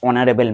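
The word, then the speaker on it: honourable: Five number Brutus is ডশ অনারেবল ম্যান। এইখানে দেখো অনারেবল যখন উচ্চারণ করছি অনারেবল আমরা হনবল করি না।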